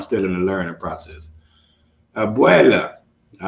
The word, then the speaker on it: abuela: How do you say grandmother in Spanish? In Spanish, that's abuela.